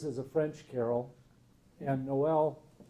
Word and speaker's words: Noel: a French carol, and Noel, spelled N-O-E-L, half of them have it as an English carol, and they spell it sometimes N-O-W-E-L-L.